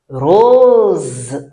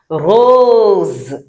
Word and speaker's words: rose: Rose. Rose. Rose. Okay, it's not rose. Rose. S in between two vowels in French sounds a Z.